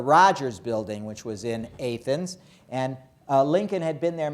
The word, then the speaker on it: Athens: I don't want you to make fools of yourself by mispronouncing the word A-T-H-E-N-S as Athens. Because then everybody in Illinois will laugh at you, because everybody knows that it's Athens, Illinois.